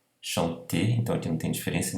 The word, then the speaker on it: chanter: no final no verbo, chanter, chanter, então aqui não tem diferença nenhuma de pronúncia, o R aqui do infinitivo do verbo cantar, chanter, não é pronunciado, tá?